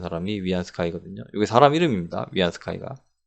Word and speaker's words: 위안스카이: 위안 스카이거게 사람 이름입니다 위안스카이가 옛날 분들은 원세계 이렇게 읽는데 우리나라 한자 그대로 읽어서 우리나라식 한자 발음으로 자 위안스카이는 마치 총처럼